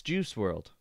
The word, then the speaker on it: Juice WRLD: am I doing here it's juice world right that's how you pronounce it this guy right here